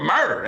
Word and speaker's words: Murdaugh: Yeah, murder spelled M-U-R-D-A-H, I think is how they spell it there.